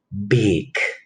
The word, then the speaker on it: big: Recuerden que ya lo habíamos visto en otros encuentros, la pronunciación no es big como la I del español, sino que es una I corta.